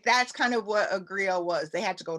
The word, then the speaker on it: griot: And so there was different classes of people, and there's something called a griot. And it's a French word, and you spell it Griot.